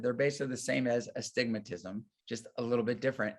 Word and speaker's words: astigmatism: a joke amongst optometrists the way people say astigmatism because patients don't know how it's spelled or to say it right so they call it the stigmas or stigmatisms but astigmatism just means it's another